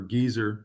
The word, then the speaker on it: geyser: Dad in front of the geyser or geezer sign. Because the Brits pronounce it a geyser. Yes, geezer. Yeah. There's We say puffin. geyser, they say geyser.